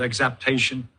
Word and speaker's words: exaptation: trail that is called exaptation, which is a tricky word. It's not pronounced exact. It has a P, not a C.